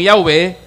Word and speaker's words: Yahweh: Pero kung Hebrew basahon, ang litra Yud He Waw He, pronounce man gyapon nga Yahweh, transliteration ra.